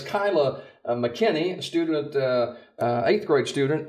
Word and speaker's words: Kyla McKinney: Kyla and I were just discussing how you pronounce her name it's Kyla mckenny student uh eighth grade student at Nichols Lawson